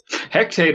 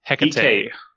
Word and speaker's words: Hecate: Hectate Island, everybody. Yes. Hectate? This was... Hectate? Hectate, I don't know. I don't know how to pronounce this. Abysmii, how do you pronounce it? Hecate.